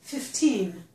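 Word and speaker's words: fifteen: However, if the number is at the end of a phrase or a sentence, it's normally stressed on the second syllable, on the teen.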